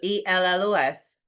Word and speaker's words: ellos: No, a double L in Spanish is pronounced like a Y sound. So ELLOS, ellos, right?